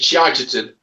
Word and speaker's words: Shitterton: And there's somewhere in Dorset called Shitterton. So bad they pronounce it Shiderton.